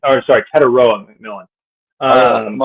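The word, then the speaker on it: Tetairoa: Uh, Trtoria McMillan is a sure thing. I think it's how you say his name. Or sorry, Tedaroa McMillan.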